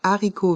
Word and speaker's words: haricot: verts un haricot vert ici le mot haricot le H est aspiré c'est-à-dire il n'y a pas de liaison des haricots le T et le S de haricots et de ver sont muet des haricot verts un